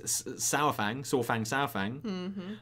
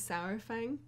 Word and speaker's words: Saurfang: Everyone's like, "There's no precedent. It's soar like dinosaur.